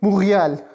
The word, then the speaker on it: Montréal: Montreal will be pronounced as Montréal, Montréal, Montréal.